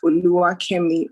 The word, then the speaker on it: Oluwakemi: for having me so the pronunciation of my name is ulua kemi uh wow yeah yeah